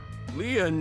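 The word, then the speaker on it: Lien: d sh my name lean is spelled l i e n in French lean means Bond just like t means bond in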